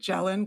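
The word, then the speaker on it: gellan: gel and gum I don't know if I'm pronouncing that right is it gelen gum yeah it is correct okay and then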